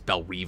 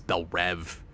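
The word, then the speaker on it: Belle Reve: Raj thing with Bellerive where sometimes it's Bell Rive and sometimes it's Bell Rev I don't agree with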